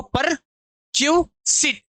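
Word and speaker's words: perquisite: इसको ऐसे याद रखो पर क्यूसिट इ नहीं पढ़ते ऐसे याद रखो और आई नहीं पढ़ते। परक्यूसिट तो परक्यूसिट पढ़ते हैं।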